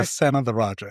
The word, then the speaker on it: Senatheraja: Senatherajah. It's like son of the Raja.